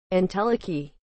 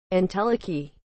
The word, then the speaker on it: entelechy: what is the meaning of the word inteliki as a noun aristotle the state of something that is fully realized actuality as opposed to potentiality inteliki is spelled e n t e l e